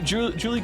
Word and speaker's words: Juli: Since we're in the mood for correcting pronunciations, let me drop the fact that both of you are pronouncing Julie wrong. It's Spanish. It's Juli, like Juli.